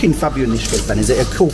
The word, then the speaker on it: Fabijoniškės: Yeah, Fabijoniškės. Fabijoniškės, okay. Very hard to pronounce.